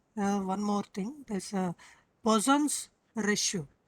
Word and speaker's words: Poisson: This is not poison. Okay. Don't read it as poison. It is not poison. It is a name of a scientist. His name is Poisson. Poisson. Okay. It is pronounced as Poisson.